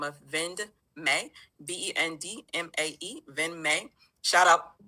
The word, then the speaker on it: VendMae: Yeah, Venme, VENME, right? Oh no, Vend as in abbreviation for vendor. So VENDMAE, Vend May. May is spelled M-A-E.